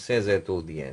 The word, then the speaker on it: ces étudiants: Ces étudiants. Proper pronunciation is ces étudiants.